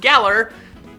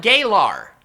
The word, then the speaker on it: Galar: olde England were and it is pronounced Geller not gay lar as I accidentally pronounced it Geller could also be